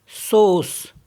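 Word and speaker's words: sauce: means पॉज एंड एस ए यू सी ई सोस सोस means सॉस तो जहां पे English में हम ऑ करके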